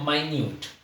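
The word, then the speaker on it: minute: यहां पे जो है ये इसका प्रोनंसिएशन है माइन्यूट दोनों की स्पेलिंग से में प्रोनंसिएशन अलग है बिल्कुल तो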